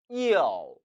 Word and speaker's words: 要: 要要 이 단어는 또 우자지요. 이 단어 이유로 발음하면 틀립니다. 즉, 이 모음과 어우 모음이 합쳐진 복모음이라는 점 주의하셔야 해요. 이어, 이어, 이어.